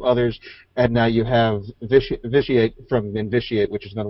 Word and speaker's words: Vitiate: All right, and as the chat room was pointing out to me, I was pronouncing that incorrectly. It's Vitiate. Is how you say his name.